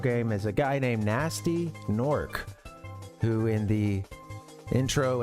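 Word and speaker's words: Gnasty Gnorc: the the the game they like mispronounce his name or uh it's you know GN s Ty y GN o RC but someone goes you know takes the bait and goes with a gasty gor uh anyway uh this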